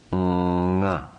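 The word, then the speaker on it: ङ: This particular nasal sound is pronounced nga, nga.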